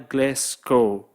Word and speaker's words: Glasgow: Nah, kota Glasgow ini memang tulisannya Glasgow, tapi bacanya Glasgow.